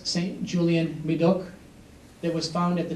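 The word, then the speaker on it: Médoc: Medoc.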